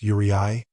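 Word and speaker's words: uraei: I know that's a horrible word to pronounce, yuri. But Carter insists it's the plural for urus and there's no arguing with him. Just say you're right and leave off the t and you've got it.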